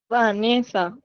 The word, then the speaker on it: Vanessa: que se entienda Vanessa, ¿dónde dónde está la sílaba tónica? Ahí en el en el va. Entonces vamos a pronunciar Vanessa y Vanessa ¿Cuál es el correcto? ¿Cuál va a ser el correcto? Vanessa. Sí, exactamente. ¿Y cuál va a ser entonces la sílaba tónica de la pronunciación correcta de Vanessa? va a ser la ne va.